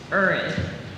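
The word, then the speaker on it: urad: Urud. Are there any alternate pronunciations?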